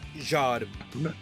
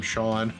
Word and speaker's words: Zhade: Zhade. I thought it was something like that. I almost called him Shawn.